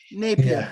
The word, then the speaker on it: Napier: um 17th century by a guy named John Napier or John Neer I forget how to pronounce his name I'm sorry if I butchered that he took 20 years to calculate it by hand I think it's Napier Scottish fell Napier yes thank you it